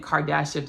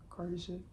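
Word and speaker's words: Kardashev: I've been saying Kardashia this whole time.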